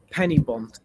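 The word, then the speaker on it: Penybont: the devil he's that Penny bond is how you say it does he just know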